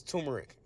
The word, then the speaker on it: turmeric: man all right and it's spelled turmeric but you know everybody says turmeric you know what I'm